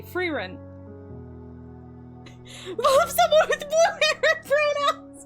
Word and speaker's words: Frieren: if this were German, like Himmel is the German word for sky. So if we're pronouncing it Germanically, it would be Frieren.